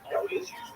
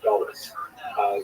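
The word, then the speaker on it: גלות: neutral connotation, but the word exile in Hebrew, galut, or in a Ashkenazi pronunciation, galus.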